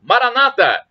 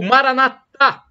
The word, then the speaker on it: Maranata: de Jesus eu clamo Maranata como dizem os protestantes com a única na penúltima sílaba ou Maranata como dizem os católicos com a tônica na última sílaba o significado é o